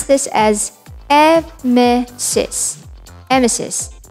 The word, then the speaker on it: emesis: pronounce this as evme emesis similar to how you'll pronounce nemesis coccyx the scientific term